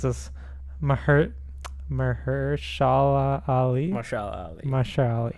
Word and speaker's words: Mahershala Ali: Mahershala Ali. I think Mahershala Ali. I think so. That don't actually know sounds a 100%. lot better than what I first said.